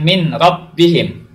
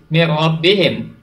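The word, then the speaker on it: مِن رَبِّهِم: ditahan tetapi ditepuk saja ini dibacanya bukan mint robbihim nun mati bertemu dengan rok dibacanya bukan mirrobbihim bukan minorock pilih Maksudnya tapi mirrobbihim ya mirrobbihim Nun mati bertemu dengan rok jadi dunia dimasukkan ke huruf kalau plastiknya nih robbihim ada tekanan disitu kemudian Bukan dibaca yang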